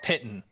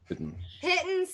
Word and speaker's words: piton: It's the pitton. Piton. Pitton, that pitton, you piton. know. I say there pitton. It's, 'Cause I'm from the south. it's actually piton.